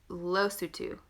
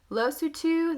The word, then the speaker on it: Lesotho: Then we're going to go over here to Lesotho. Lesotho, the best to memorize is it looks like a little baby tooth. Lost a tooth.